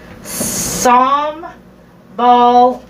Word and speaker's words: sambal: oh instead of the sambal yeah wow okay uh let's see jerry says sambal is pronounced som ball and maybe jim said